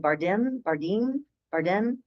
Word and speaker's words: Bardem: Bardem.